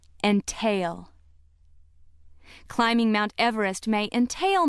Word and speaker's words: entail: If word seven is being used as a verb meaning to put a burden on or involve or to restrict ownership by limiting inheritance, it is pronounced entail. Entail.